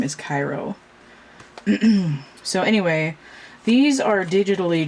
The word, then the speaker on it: Ciro: be pronounced but according to that book the pronunciation of his first name is cairo so anyway these are digitally drawn so they